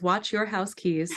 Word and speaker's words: Wojciechowski: high art teacher Mrs wojciechowski she always said pronounce it as watch your house keys so Mrs Roger housekeep but it's really fast with the Rhode Island accent and she I took